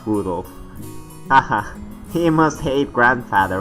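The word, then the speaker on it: Rudolf: it's just morons anyway this guy's name is pronounced Rudolph aha he must hate grandfather for giving him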